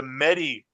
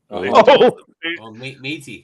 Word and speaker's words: Métis: issues because the new Meta symbol is the Medi First Nation symbol. Métis. Really? Métis. Yeah, sorry if I mispronounced it, but yeah.